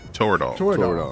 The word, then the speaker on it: Toradol: of territor am i saying it right yeah toradol jordan taken due to the risk of major